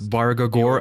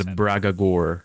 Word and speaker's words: Bargagor: And if you've played the Spellforce series, you will notice how he has mispronounced Bargagor as Bragagor. And this will happen again later, by another voice actor, and it's not Bragagor.